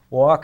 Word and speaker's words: walk: with a capital letter we walk as I told you has that silent l and so does talk and of course we